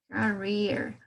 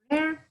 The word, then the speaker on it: career: El sonido que vamos a tener ahí va a ser como el de una I, ¿no? Una I alargada, como si ustedes estuvieran pronunciando casi un segundito más la I, ¿no? In this case we have career, career. Pero se suena o tenemos ese sonido de la I, no de career, sino career.